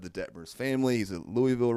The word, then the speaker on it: Louisville: It's like Louisville. I was like, "What did you say? It's not Louisville. It's Louis Wville." No, it's not.